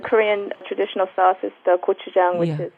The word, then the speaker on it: gochujang: Gochujang. gochujang. Tang Yes. just means sauce, Gochujang. and Now- gochu means pepper.